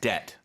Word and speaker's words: debt: at some point right and the B is silent right debt debt so indebted is one